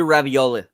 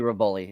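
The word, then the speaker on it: Revolori: Gren Prince Grayden Tony ravioli okay raboli it's actually raboli it's raboli seriously roli ravioli no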